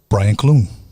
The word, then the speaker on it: Brian Clune: uh my guest for tonight is paranormal expert brian cloone did i pronounce that right you did oh yes um